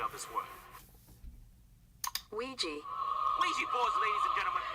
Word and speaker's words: Ouija: data analyst expert to give us the proper pronunciation of this word Ouija oui Bo ladies and gentlemen these Bo were